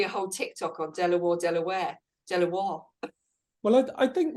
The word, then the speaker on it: De La Warr: the family name is although it's spelled as it is on the front of the building is pronounced Delaware but of course the